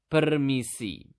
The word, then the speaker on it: permisi: To say excuse me in Bahasa, you simply just need to say permisi.